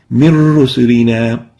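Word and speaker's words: مِنْ رُسُلِنَا: When we merge them together, we don't pronounce the noon, and it will look or sounds like min rusulina.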